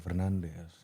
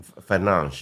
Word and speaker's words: Fernandes: Jangan Bruno Fernandes. Norak lo. Pakai ejaan Portugis dong. Fernandes.